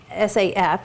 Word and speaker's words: SAF: So this vacuum packed container, which is SAF, is pronounced safe or SAF. Different people pronounce it different ways.